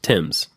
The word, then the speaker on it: Thames: utility company Tims T how do you say Thames Tims right t h m s is the Tims River isn't that how they say it I live in America